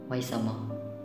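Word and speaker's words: 为什么: Pronunciation, pinapronounce nila as Weishima.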